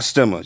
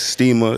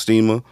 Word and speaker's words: Stima: the name of the product for respect not stemmers you got to pronounce your steamer i did lengthy research on it because i thought it was stemmer at first but now i got corrected it's steamer it's pronounced steamer that's italian for for respect